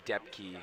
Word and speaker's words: Depke: It is pronounced Depke. Depke. That is right. Wow. We've been just brutalizing his last name.